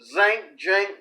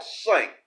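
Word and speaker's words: Cenk: I was watching the Young Turks, and I saw a clip where Jink, whatever his name is, okay, it's not pronounced the way it's spelled. It's spelled Sink, but that's not what it is.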